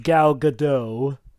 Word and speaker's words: Gal Gadot: right we never mentioned the actress oh it's pronounced gal gadot she was she was in she was cast